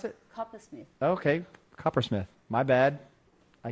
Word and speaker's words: Coppersmith: How do you pronounce it? Coppersmith.